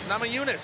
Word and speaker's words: Namajunas: How do we pronounce that one? Namajunas? Namajunas.